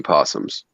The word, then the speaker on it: opossum: just looks like another version of a virginia opossum oh so mexican mouse opossum so many possums do you guys even pronounce the o or is it just possum